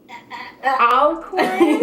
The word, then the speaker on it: Alcorn: Alcorn?